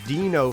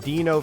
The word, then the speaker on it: Dino: Keep in mind, Dino from the Flintstones is spelled D-I-N-O, so that's why I kept calling that player Dino, but it turns out Dino's the actual pronunciation, my bad.